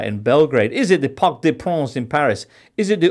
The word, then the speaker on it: Parc des Princes: And in the right pronunciation, I will try. The Maracanã in Belgrade. The Parc des Princes in Paris.